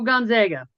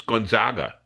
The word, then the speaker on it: Gonzaga: Let's go Gonzega. It's Gonzega. Don't you know how to pronounce it? It's Gonzaga.